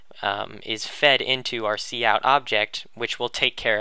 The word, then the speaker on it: cout: out which is pronounced C out by the way because it has to do with output um and then this